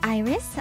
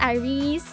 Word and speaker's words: IRyS: not it is not irise it is not it is not ours it is just iris yes like the flower simple simple stuff and